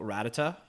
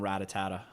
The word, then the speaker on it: Rattata: time you know what I used to call Rattata rata T no I used to call him ratatata gun what happens when when freakin Ratatat scene